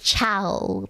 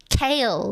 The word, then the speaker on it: Chaol: Because I pronounced it chow, like it's written, right? But I got told that apparently Chaol is pronounced kale, like the vegetable kale.